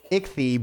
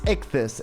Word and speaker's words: Ichthys: with his name because I wanted to say it was like Ichthy, but I don't think it is. It's Ichthys, and I never would have guessed without that pronunciation because the 5 is supposed to represent an S.